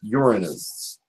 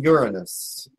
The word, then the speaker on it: Uranus: And it's, yes, I'm being told that it's pronounced Uranus. That made me laugh. Psychically, I was told it's spoken Uranus.